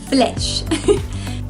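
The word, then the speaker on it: flèche: how to say flesh can't really separate it with syllables like i usually do it's really just flesh flesh means arrow see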